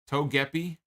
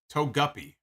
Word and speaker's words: Togepi: here all right so I'm being told it's pronounced toe Togepi okay Togepi apparently Togepi is a is a Pokemon toguppy like a fish so apparently it's some kind